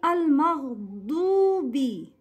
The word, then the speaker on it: المغضوب: Say Al-Maghdubi. Du, it's a du, not do.